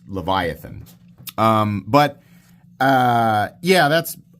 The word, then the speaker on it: Leviathan: played Final Fantasy 8 first time I ever saw that word I thought well that's obviously pronounced leviathon I think it's Leviathan um but uh yeah